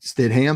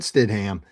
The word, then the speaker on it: Stidham: How would you mispronounce it? Where would you go on that one? Stam. Jarrett. Jarrett Stidham.